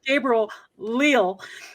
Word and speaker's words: Gabriel Leal: is uh real leo it's his name is gabriel leel and he has the made from scratch broadcast